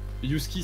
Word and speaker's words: Yhusky: coup c'est husky underscorpoon husky ça s'écrit yhuski parce que c'est c'est comme le chien mais avec un y devant et sinon vous pouvez